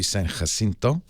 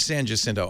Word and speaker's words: San Jacinto: I pronounce it Jacinto, but what do I know? Now, of course, the Spanish pronunciation would be San Jacinto, but I thought I'd heard San Jacinto. I don't know. So I'll say, if you live there and you say Jacinto, I will say Jacinto.